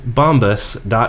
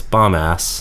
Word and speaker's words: Bombas: slash multi Emery which dedeker likes to pronounce bomb ass mm-hmm but there's only one s it's bomba and you get 20%